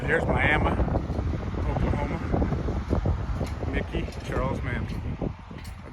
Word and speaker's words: Miami: but here we go this is still Miama Oklahoma that's how they pronounce it here's Miama Oklahoma Mickey Charles man